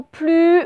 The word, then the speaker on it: plus: Voilà, la particularité, c'est que quelquefois, on le prononce, ce S, quelquefois, on ne le prononce pas. Si on dit « je n'ai plus faim », on ne le prononce pas, par contre, on l'écrit.